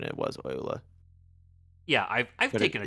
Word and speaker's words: Euler: also, you were correct in pronunciation. It was Euler, Yeah, I've but taken a it is German all, course.